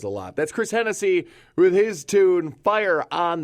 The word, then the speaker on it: Hennessy: it's easy it's Chris Hennessy and again you spell it like Tennessee just take the T and make it an H it's easy so it's